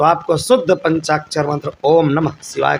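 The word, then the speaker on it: ॐ नमः शिवाय: और कुछ नहीं नहीं ओम नमः शिवाय ये शुद्ध उच्चारण करें क्योंकि बहुत से लोग ओम नमः शिवाय बोल देते हैं वो गलत है और ये भी हम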